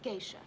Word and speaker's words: geisha: Now, all you need to remember is that the food is good, the nights are warm, and it's pronounced geisha.